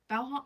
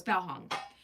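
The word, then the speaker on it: Baohong: Uh and then I've got Hongong or Bong. Is that how you say it? Bhong. Oh no, it's Bow Hong.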